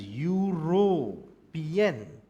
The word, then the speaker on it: European: So European country is pronounced as European. Right, so the pronunciation is there of Y.